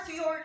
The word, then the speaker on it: fjord: things first the word fjord is spelled like this but we pronounce it as fjor now in scandinavian languages the j is often pronounced like a y or a u and fjords they are